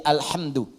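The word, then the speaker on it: الحمدُ: Bacaan di qira'ah sab'ah semua para pembacanya itu mendhammahkan huruf dal di alhamdu.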